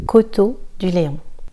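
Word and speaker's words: Coteaux du Layon: Coteau du Léon, Coteau du Léon. E-A-U, E-A-U-X et A-U te donnent le son O.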